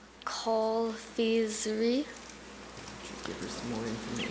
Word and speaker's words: confiserie: Confiserie.